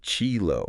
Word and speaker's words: Qilu: you mentioned these buildings called Qilu, Ah, yes, the Qilu buildings. pronounced Chilo. That's right, Sheila. Chilo, okay. These buildings are a testament to Haikou Bu's diverse cultural influences.